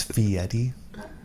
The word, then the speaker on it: Fieri: You know, it's Fieri.